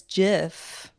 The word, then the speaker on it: GIF: like when people say no the founder said it's jiff oh that is true